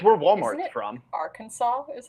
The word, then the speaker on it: Arkansas: gives me bad vibes it's where Walmart's from Arkansas is how it's pronounced apparently yeah weird yes but I call